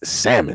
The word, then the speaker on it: salmon: would like to say the L is silent and it's salmon it's like I I